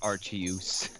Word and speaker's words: Arceus: men pronounce it Arceus.